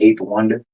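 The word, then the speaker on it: A8THWNDR: will be Eighth Wonder, and I spell it the letter A, the number 8. That's how I spell my name. I pronounce it eight though, but it's the letter A, the number 8, THWNDR. So Eighth Wonder.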